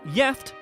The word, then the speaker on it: gift: One Swedish word that is spelled the same as the English is gift, but is pronounced jeft and has 2 separate meanings, the first of which means married.